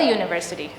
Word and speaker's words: university: Why do we say a university? The sound of university is a Y sound which is a consonant.